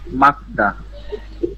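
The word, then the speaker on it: 맑다: Real গিয়ক আছে, এই যে রিয়েলটা কেটে গেল, মানে রিয়েল বাদ যাবে। রিয়েল বাদ যাবে, এইজন্য উচ্চারণ হবে মাকদা।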